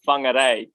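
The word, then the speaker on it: Whangārei: So, born and raised in, I hope I pronounced this right, Whangarei, New Zealand? I don't know, is that right? I mean, that is a valiant effort, and the traditional pronunciation is Whangarei, but okay.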